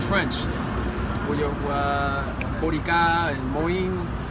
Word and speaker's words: moin: M-O-I-N in a French grammar is more on the lines of moi, moi, moi. Okay? That N is nasalized, man.